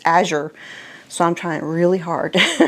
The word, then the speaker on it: Azure: it that way because for years I called it Azure standard because that's just how I felt it was supposed to be pronounced and I've had so many people correct me saying it's not Azure it's Azure so I'm trying really